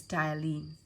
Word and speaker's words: ptyalin: also be called as ptyalin. P is silent, all right?